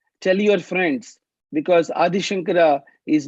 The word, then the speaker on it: Shankara: Shankara, Shankara, from the middle of the mouth. Not Shankara or not Sankara. So remember that.